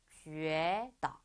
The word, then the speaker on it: 觉得: 우에가 아니고 觉得 이렇게 읽어주시면 돼요.